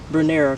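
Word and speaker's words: Brunnera: Everybody pronounces it differently, so I'm gonna say Brunera because I like the way that sounds.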